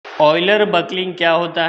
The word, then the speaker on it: Euler: दोस्तों इसे ईलर नहीं कहा जाता, इसे ऑयलर प्रोनाउंस किया जाता है।